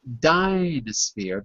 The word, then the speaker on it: Dynasphere: car would be pronounced Dynasphere, because in the first syllable, dy, there is no consonant. It's just dy, and when a syllable ends in a vowel, we say the name of the vowel.